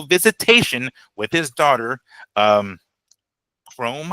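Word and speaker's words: Khrome: with his daughter um Chrome I think is how you uh how you say it. Uh K H R O M E Chrome.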